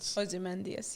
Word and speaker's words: Ozymandias: So after Another Ozymandias, example, I think did I pronounce it right? Ozymandias, yeah.